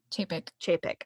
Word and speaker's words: Chapek: Chapek.